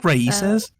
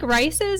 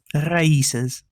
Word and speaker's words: RAICES: Isn't that Raices? Rices, yeah. It's not like Rices, and it's not race. So I'm really bad at pronunciation, though. So. Raices.